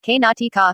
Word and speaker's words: Karnataka: let's start the video karnataka iso karnataka kannada pronunciation k-natika is a state in the southwestern region of